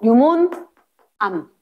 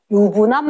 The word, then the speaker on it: 유문암: 어 현무암 다시 무슨 암무암 산 암 안산 유 발음 잘해야 돼. 어 유문 암 유분암 말고 유문암 유문암 됐지?